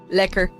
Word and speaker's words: lekker: Liquor, yeah, you can pronounce it a bit more at liquor. That's like it's not like the liquor like that you usually have. It's more, yeah, you have to emphasize the eh.